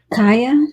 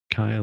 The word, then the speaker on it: Kaya: Kaya, I believe it's... Kaya. Kaya, that sounds better. More like Gaia with a K.